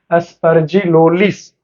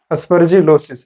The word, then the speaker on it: aspergillosis: तीसरा है एस्परजिलोलिस, sorry aspergillosis, right? This is the correct pronunciation of this particular disease which is caused in by the microorganisms in animals, right?